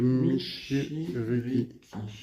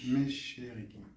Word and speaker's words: Michiriki: Vous êtes, on semblerait que ce soit des E, non? Non, non, c'est Michiriki. Méchérique. Ah, mais!